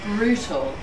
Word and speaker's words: brutal: How many syllables does brutal have? Two. Very often in South African English, T's, especially in the middle of the word, change to D's. Okay. It's a very South African thing. But for the sake of today, it was brutal. You can say brutal once more. But definitely two syllables.